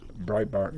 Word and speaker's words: Breitbart: How do you pronounce it? What? Breitbart? Breitbart. Breitbart, yeah.